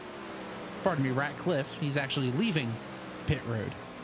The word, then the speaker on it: Ratcliffe: As also heading down pit road is the number 19 of William Ratcliffe. Pardon me, Ratcliffe.